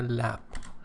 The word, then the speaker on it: lab: thorough or complete job of cleaning up their lab. Lab is the abbreviation form or shortened form of laboratory. In American pronunciation it is laboratory, in British pronunciation it is laboratory.